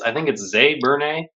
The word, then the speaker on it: Zé Burnay: Yeah, I think it's Zé Burnay. He's Portuguese, and this I've followed him on the internet for years, and I actually have a couple of his books.